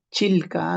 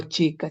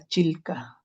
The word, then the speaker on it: Chilca: Chilca, no chica, Chilca.